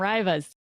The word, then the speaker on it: Riva: We had some Yeah, Rivas and some Rivas. Yeah, so it's Riva. At least I pronounce it Riva.